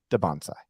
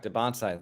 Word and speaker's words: Dybantsa: Dybantsa. Yes, I okay, asked him. because people were saying Dybantsa before, but if he says Dybantsa, he's the man, so he knows.